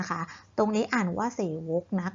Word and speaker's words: เสวก: นั่น เอง ดัง นั้น คำ นี้ และ อ่าน ว่า เศษ วก นะ คะ ไม่ ใช่ เศวต ง้อ นั้น ก็ เรา